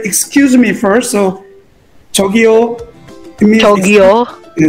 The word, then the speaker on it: 저기요: So 저기요. 저기요. Yeah, 저기요, like calling out people, 저기요, 저 좀 도와주시겠어요?